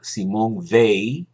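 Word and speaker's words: Simone Weil: propia raza mi queridísima Simón ve así se pronuncia en francés era una filósofa brillantísima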